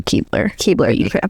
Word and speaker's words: Keebler: There's Keebler or okay, so Keebler. Keebler. So he likes to tell a story about a Keebler cookie driver who sorry, man, contacts are getting blurry.